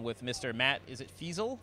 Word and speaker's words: Feazell: Matt, is it Feazell? Feazell. Feazell. Well, It's got two L's. It rhymes with gazelle.